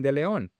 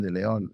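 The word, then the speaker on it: De León: When I used to say his name, Kevin De Leon, because when I talked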